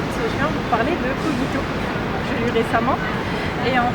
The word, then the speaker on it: Cogito: Cogito ou Cogito, hein. Souvent on me pose la question comment oui, on prononce. C'est vrai qu'on sait jamais comment le prononcer. C'est vrai qu'on peut dire les deux en français, donc c'est au choix l'un ou l'autre.